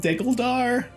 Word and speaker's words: Degguldaar: I think you know that it is called diggledar okay and uh some kind of mispronunciation like that might get you laughed out